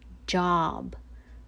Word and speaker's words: job: jingle silent e next the o here is ah okay ah that's why it reads job job well the letter o